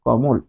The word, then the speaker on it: কমল: কিন্তু উচ্চারণ করলে বোঝা যাবে যে এখানে হসন্ত আছে। কমল। তাহলে এখানে ক মূল। ক মূল।